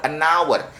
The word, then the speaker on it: hour: Ini bukan bacanya hour tapi hour, an hour.